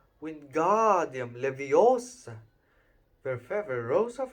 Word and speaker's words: Wingardium: It's Wingardium Leviosa. Make the gar nice and long.